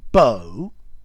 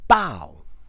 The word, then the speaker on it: bow: B-O-W, Beau or Bough, and there are various different meanings for both pronunciations. So, Beau, as in no.